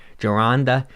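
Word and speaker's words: Gironda: always never pronounce his name how do you pronounce his name jaranda he was that he was ahead of his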